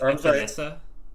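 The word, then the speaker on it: Epenesa: I think it's Epinesa.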